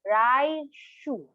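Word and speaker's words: 来週: Now, one time again, slowly, per syllable. Konshu. This week. How about next week? In Japanese, it's raishu.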